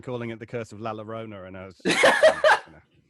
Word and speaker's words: La Llorona: All right, shall we then move on to The Curse of La Llorona? Yes, let's. Beautifully pronounced, Chad.